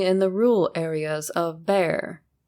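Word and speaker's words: Bexar: the rural areas of bear pronounced Bear County and terrorized anyone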